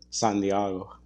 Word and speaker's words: San Diego: You have to pronounce it San Diego.